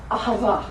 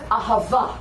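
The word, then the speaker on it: אהבה: Ahava. Accent the end. Ahava. 重音在最后。 I pronounced it wrong for a long time, and then my Messianic rabbi said to me, "You're saying it wrong." So it's ahava.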